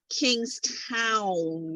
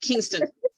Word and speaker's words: Kingstown: like it's Kingstown, not Kingston. Like, well, yeah, there's a Kingston.